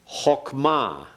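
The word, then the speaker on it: חכמה: Chokmah. Chokmah. That means wisdom. Notice the chok, oh. It's a kametz chatuf. The accented syllable is the last syllable, ma.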